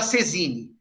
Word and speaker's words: saisine: gaulês, que é o princípio da sesine, que se escreve saisine.